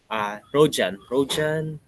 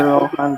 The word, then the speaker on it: Rohan: Rojan or Rohan. Am I pronouncing it right? Rojan? Okay. Rohan po, sir.